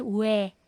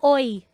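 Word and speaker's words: 외: po yung iba Actually ang pronunciation po niya is we we we hindi yyan Oy hindi yyan o i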